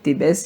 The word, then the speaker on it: Thèbes: Moi, je sais pas, moi j'aime dire Thébès, j'aime prononcer le S qui est à la fin.